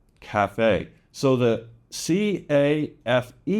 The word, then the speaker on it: café: And mostly this comes from loan words from French, café, café. So the C-A-F-E, the A is a short A, and the E is pronounced.